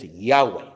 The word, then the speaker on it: Yahweh: muchos teólogos admiten, que el nombre más cercano a la pronunciación original de esas 4 letras es Yahweh. ¿Okay? Yahweh. Si a alguno le gusta usar Jehová, pues está bien, puede usar Jehová.